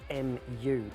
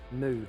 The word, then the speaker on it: Mu: the damiki mu sp you're probably saying that wrong it's spelled m u mu or mu but this is a smaller